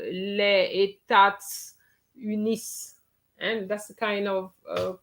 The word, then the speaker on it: les États-Unis: Les États-Unis. Rihanna? Les États-Unis. Ok, très bien. Yes, Paris, you miss your liaison.